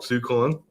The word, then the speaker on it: Sukon: This is Mark Sukon, and I know that's correct pronunciation because I called him and asked him.